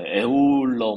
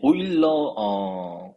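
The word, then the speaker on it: Euler: 근데 이게 보시면 아시겠지만 영어 발음이 아니죠, 그죠? 그러니까 영어 발음 되게 뭐 에울러 뭐 이럴 것 같은데, 그죠? 근데 이게 이분이 아마 오스트리아 분일 거예요. 아마 독일계, 오스트리아. 하여튼 그래서 이게 독일어일 겁니다, 대체로.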